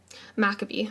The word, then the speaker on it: Maccabee: How was this pronounced again? Maccabee.